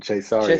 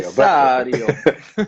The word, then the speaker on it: Cessario: Am I pronouncing it correctly, or is it Cessario or You've got the correct Italian pronunciation on that one, Cessario. Cessario?